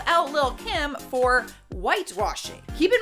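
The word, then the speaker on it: Lil' Kim: next number nine is little kim or lil kim i feel like that is the proper way to say it what happened was danielle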